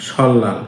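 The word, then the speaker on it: 설날: আপনারা এটা উচ্চারণ করবেন সল্লাল, কারণ রিউলের পরে যদি নিউন থাকে তখন নিউনের উচ্চারণও লয়ের মতো হয়।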